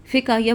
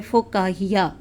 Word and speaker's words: فکاہیہ: فکاہیہ یہ 1-2 چینلز پہ اس کو فکاہیہ بولا گیا ہے، جبکہ یہ اصل میں صحیح تلفظ جو ہے وہ ہے فکاہیہ.